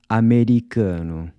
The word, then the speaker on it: Americano: Americano. So here we have a mix of the two sounds, the “a” is pronounced /ɐ/ as in “Cuba” and the “o” is pronounced /u/ as in “boot”.